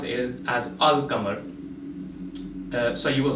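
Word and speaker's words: القمر: So the Arabic word for moon is Qamar, and if we combine that with Al, we pronounce it Al-Qamar.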